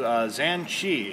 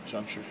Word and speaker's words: ZhanChi: I got the new ZhanChi, and I know that I butchered the name.